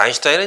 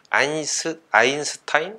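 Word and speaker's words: Einstein: 그러니까 이제 미국식, 근데 그렇게 이야기하게 되면 아인슈타인도 이제 아인스타인 뭐 이 정도 이렇게 발음을 하면은 돼야 될 텐데, 아무튼간에 독일 발음으로 이름을 발음을 하면 이제 알베르트 아인슈타인이 되는 게 아마 보다 더 정확한 발음인 것 같습니다.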